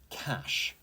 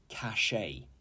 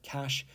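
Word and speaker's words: cache: okay number 10 is cash as in sounds like cash money uh it is not pronounced cach a okay it's just cash and this is a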